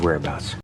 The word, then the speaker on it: whereabouts: whereabouts we need his whereabouts I'm the pronunciation it's pretty straightforward there are three syllables the stress is on that first syllable whereabouts let's try and do